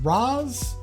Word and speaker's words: Ros: would it be pronounced roz and it's an s not a z but i mean and